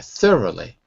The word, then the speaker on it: thorough: words in the language any OU word in English needs to be memorized okay for example in the in the chat window you'll see tough right and this word is though same spelling but totally different pronunciation thorough at least looks